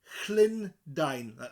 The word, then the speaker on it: Llundain: A double L at the beginning. It's like the word Lynn, but with a Llundain. Llundain. Dine as in the English word dine in. I'm to dine with food in front of you. To dine at a restaurant.